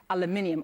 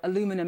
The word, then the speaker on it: aluminium: to the steel and aluminium or aluminum as you Americans say you aluminum I still need to get used to that word aluminum tariffs that were imposed back in March.